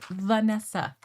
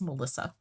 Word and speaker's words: Vanessa: I'm like, "Do you hear me pronouncing an L?" Yeah. Like Melissa Vanessa. Like yes, I get it. The SSA at the end. They rhyme, but like they are not the same name.